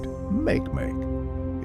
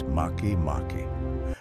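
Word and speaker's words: Makemake: Also, its name isn't pronounced make. It's Maki Maki from the mythology of Easter Island's native people.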